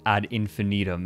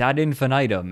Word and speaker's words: ad infinitum: one of them or someone in chat said add infinitum and it's like no it's ad infinitum and people and then